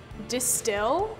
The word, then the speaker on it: De Stijl: I think it's Distill. It's like, there's like a J in it somewhere.